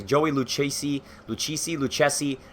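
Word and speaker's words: Lucchesi: Luce see lucci see Lou chessy as an Italian I would pronounce it Luke chessy you know he's playing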